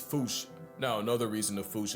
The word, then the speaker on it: fossa: Really, the correct way Exactly. to say it is foosh, foosh, foosh, like foosh with a performance anxiety at the end. Experts feel free to correct me, but apparently that is the closest to the OG Malagasy pronunciation. It's just that the global game of telephone has Americans saying Fusa, while England pronounces it as Fossa.